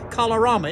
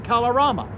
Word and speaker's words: Kalorama: Barack Obama lives just over there in a neighborhood called Kalorama. It rhymes. Obama in Kalorama.